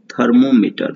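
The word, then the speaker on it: thermometer: now comes थर्मोमीटर, थर्मोमीटर मतलब इसे लिखने, स्पेलिंग याद करने के लिए हम बोलते हैं थर्मोमीटर, बट इसको पढ़ते हैं थर्मामीटर ही, और हिंदी भी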